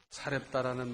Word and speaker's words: 사렙다: 여기 사르밧이라 그랬는데 이것은 히브리식 발음이고 사렙다라는 말도 있는데 이것은 헬라어식 발음이고 이 같은 장소를 말하는 겁니다.